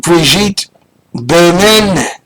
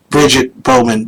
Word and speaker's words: Bridget Bowman: story today uh and briet Bowman can I say it like that Briget bman actually it's Bridget Bowman but she probably would prefer breit you know it's the liberal